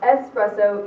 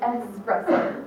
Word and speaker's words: espresso: clever annoying or both you knowingly or unknowingly mispronounce espresso either way I hate you don't ask for espresso it is espresso okay also another funny